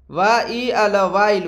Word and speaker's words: while: वाइल। वाइल का हिंदी क्या होता है? देखिए दोस्तों, WHILE, वाइल। वाइल का उच्चारण यानी कि WHILE, इसका उच्चारण होता है